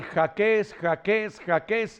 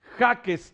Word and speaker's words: Jáquez: de hablar de Gaby Jaques, acentuando prosódicamente la última sílaba, cuando todos sabemos que es Jaques el apellido, un apellido